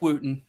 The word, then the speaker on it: Wooten: that is our guest for the evening Wooten am I saying it right Wooten yeah Wen okay I woen you know I've heard I've heard all of them under the Sun but it's Wooten okay I want to make sure because you